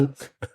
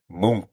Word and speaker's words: Munch: Ole Munch? Not Munch, not even close. Mook. Munk. Ole Mook.